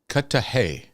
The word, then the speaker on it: Cudahy: 20 degrees um oh oh I got a pronunciation cut cut to cut to Hay sounds like we're talking like another language this